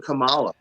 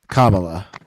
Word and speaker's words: Kamala: But but but I also was writing to vote for Camala. Kamala.